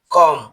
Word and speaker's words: comb: COMB এর উচ্চারণ কম হবে না, এর উচ্চারণ হবে কম, যার অর্থ হলো চিরুনি।